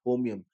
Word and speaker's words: holmium: Then you have promethium, samarium, europium, gadolinium, terbium, dysprosium, holmium, HOL, L is silent, holmium, erbium, thulium, ytterbium, lutetium.